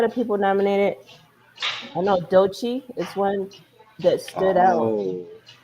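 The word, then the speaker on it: Doechii: I think it's do DOI yeah DOI like do like deer and then Chi like CH yeah yeah DOI yeah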